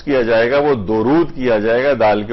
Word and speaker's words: درود: کیا جائے گا وہ درود کیا جائے گا، دال کے اوپر پیش ہے، دال کے اوپر زبر نہیں ہے۔ اچھا، اب درود کے لفظی معنی کیا ہیں؟